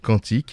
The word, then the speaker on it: quantique: Alors désolé, j'ai dit quantique parce que j'ai l'habitude de dire les quantes, mais c'est vrai que tu le prononces à la française, donc quantique.